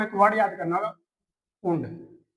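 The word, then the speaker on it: und: आपको एक वर्ड याद करना होगा ऊंड। इसकी प्रोनाउंसिएशन क्या होती है? ऊंड। और इंग्लिश के अंदर इसका मतलब होता है एंड मतलब और एंड। एंड को बोलते हैं हम ऊंड।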